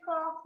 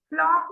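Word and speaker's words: folk: However the town, लेकिन town means कस्बे के, फॉक मीन्स लोग। बेटा एल इज साइलेंट, फ्लॉक नहीं।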